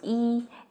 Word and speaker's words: 一: E as in number 1 is pronounced as yi, but in 一样, it becomes the second tone. In 一起, it's the fourth tone.